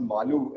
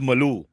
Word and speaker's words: Maloo: ones or you know it's actually pronounced malu and that rhymes with a lot of other words like all of that